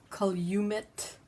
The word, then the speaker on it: Calumet: Calumet Farms is Calumet.